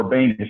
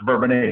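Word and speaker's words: Bourbonnais: a french word and i'll be able to pronounce it properly uh bourbon a illinois some people call it verbanius it's not it's bourbonnai it's french boloy wisconsin is not beloit you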